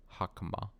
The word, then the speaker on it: Hakama: Okay, so the first thing is stressed. So that's Hakama, not Hakama.